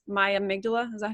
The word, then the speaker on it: amygdala: So it's not me, it's my amygdala.